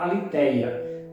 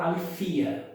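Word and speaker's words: ἀλήθεια: português, no grego koiné, os professores de grego na língua portuguesa sempre falam aletheia, mas os gregos falam alethia. Mas tudo bem, vamos manter a palavra mais comum, a pronúncia mais comum no Brasil, aletheia.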